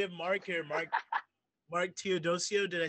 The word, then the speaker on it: Teodosio: here so we have mark here mark mark theodosio did i say that right yep you did